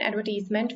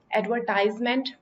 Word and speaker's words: advertisement: This word can be pronounced in two ways. Either you can say it advertisement in American style, or you can pronounce it advertisement like Britisher style.